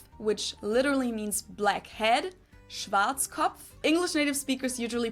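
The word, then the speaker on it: Schwarzkopf: pronounce it schat which literally means blackhe head Schwartz cop English native speakers usually pronounce it Schwarz cop or Schwarz or something along those lines Deutsche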